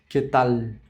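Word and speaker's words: qué tal: Não fica queetal, como a gente falaria em português, com o som mais voltado pro u. U. A gente tem essa mania de falar em português as palavras que terminam em L com o som de U, tipo animal. Mas em espanhol já fica errado. Animal. Quetal. Então tem que ser o som de L mesmo, tá?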